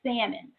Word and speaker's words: salmon: was going to say Salman y'all cuz you know as I'm philadelphia education system but up as my son has you know continued to correct his salmon the L is silent but anywho so I